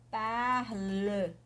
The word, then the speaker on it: parle: Apesar da pronúncia ser idêntica, parle, je parle, tu parles, il parle, nous parlons, vous parlez. Só o parlons e parler, il parle, elle parle, a pronúncia é a mesma, né?